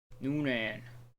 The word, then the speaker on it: Nguyen: Noonan. It's spelled Nguyen here, but with Maduras, yeah.